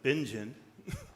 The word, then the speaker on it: Bingen: Hildegard von, I've heard a German pronounce it Bingen. Some, Bingham?